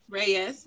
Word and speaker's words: Reyes: Is it Reyes? Reyes. Mm-hmm. Reyes, okay.